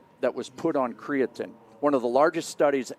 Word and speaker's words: creatine: And so now we know so much more about creatin that um and I've heard creatine. So it's creatin is the correct pronunciation, right?